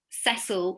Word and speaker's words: Cecile: Note that she's Cecil, although it's written Cecile, she chose the male pronunciation for her name.